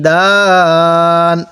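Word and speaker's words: دان: তাহলে মুত্তাকিইনা আলা ফুরুশিম বাতাইনুহা মিন ইস্তাবরক ওয়াজানাল জান্নাতাইনি দান, ওয়াজানাল জান্নাতাইনি দান, এই নুনের মধ্যে কোনো টান হবে না, অনেকেই টান দিয়ে থাকি।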